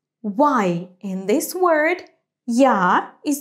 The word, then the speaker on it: я: So, in the word яблоко, I pronounce it strong, я. To pronounce it like this, you have to say first the sound й, and then а, я, я.